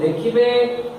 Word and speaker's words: the: अपना letter नुए sound को देखिबे, ओ sound T Wavell sound थिबारो THE row sound एठारे कोन हैला? दी।